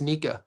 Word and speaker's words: Nika: So it's not Nakia, it's Nika.